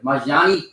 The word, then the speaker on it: Malignaggi: Whatever his name is. Malignaggi? How you say his name?